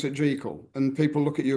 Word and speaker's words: Jekyll: uh confusion with people where we see it spelled with a c j e c k when people haven't seen it written properly and they just presume it's it's got a seen it Jackal yeah but but the certainly this the pronunciation